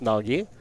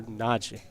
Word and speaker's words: Nagy: I think there's a kind of the Y is almost silent. It's there, but it's not pronounced Nagi, and it's not pronounced Naji, but it's more Naji.